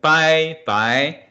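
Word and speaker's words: 百: 100 is 100, which by, I'll write the pinyin here, by, the third tone.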